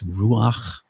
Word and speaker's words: ruach: I've been pronouncing that ruha, but that's been an incorrect pronunciation. Even though it's spelled R-U-H-A, it's ruach.